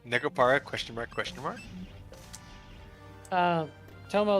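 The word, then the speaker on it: Nekopara: no, you said it wrong, Sans. It's Necopara, question mark, question mark.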